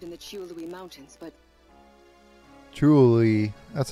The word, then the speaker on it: Chiolui: Chiolui, that's how you pronounce it.